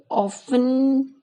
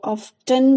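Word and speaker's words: often: यहाँ पे ऑफन pronounce करते हैं इसको लोग, लेकिन कुछ लोग इसको ऑफ्टन भी बोलते हैं. और कैम्ब्रिज और ऑक्सफोर्ड डिक्शनरी में दोनों ही करेक्ट हैं, लेकिन जनरली लोग क्या बोलते हैं, ऑफन, टी साइलेंट रखते हैं.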